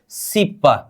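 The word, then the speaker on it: 십: हम यहां पर 10 को क्या बोलेंगे, सिप का मतलब 10 हो गया ना हमारा, इसका उच्चारण क्या करेंगे, सिप।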